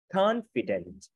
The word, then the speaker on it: confident: Confident. Confident. Ba âm tiết nhấn âm 1.